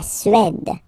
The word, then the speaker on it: Suède: La Suède. Suède. Remember, accent grave, it's really open. E, su, e.